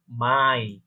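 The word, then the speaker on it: Mai: জার্মানে বলবো আপ্রিল, কারণ আমরা জানি এটাকে আ উচ্চারণ হয়। এটাকে বলবো আপ্রিল। পরবর্তী হচ্ছে আমার পরবর্তী মাসের নাম হচ্ছে মাই, যেটা আমরা মে বলে থাকি, সেটাকে রয়েছে বলে কি মাই।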